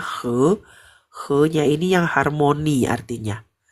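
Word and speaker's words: 和: Kalau ini doang bacanya he.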